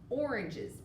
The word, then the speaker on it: oranges: a short o sound oranges that's a tricky one you do not really hear the sound but oranges does begin with an o we've also got the